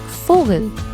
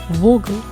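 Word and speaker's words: Vogel: with the two oml out on it I pronounce it like fogal I don't say like Vogal right another example would be clavia clavia means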